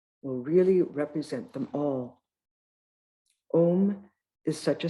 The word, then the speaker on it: Om: The first letter, A, is the root sound, the key, pronounced without touching any part of the tongue or palate. M represents the last sound in the series being produced by the closed lips.